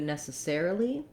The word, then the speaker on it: necessarily: change to necessarily necessarily we have a new stress pattern where the air syllable then is going to be the main stress but we will still have secondary stress on the first syllable so in necessary it's long short short short in necessarily it's